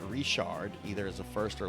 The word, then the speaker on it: Richard: You pronounce that as Rishard. And if you pronounce it as Richard, uh if somebody has the uh the name Rishard, either as a first or last name, it's